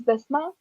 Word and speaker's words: Bisma: Can you pronounce your name again? Actually, It's Bisma.